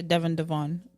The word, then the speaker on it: Devon: I say Devon.